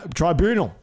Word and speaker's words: tribunal: Tribunal. Tribunal. No, there's no R. There's only one R. Tribunal.